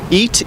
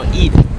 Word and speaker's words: Eid: Eat, E-A-T? No, Eid with a D. Eid. Yeah, we don't. Wow, he says it right. That's how you say it.